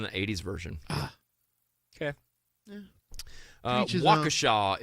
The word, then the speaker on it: Waukesha: 80s version okay uh waukesha is the pronunciation thank you very much uh waukesha yeah um yeah can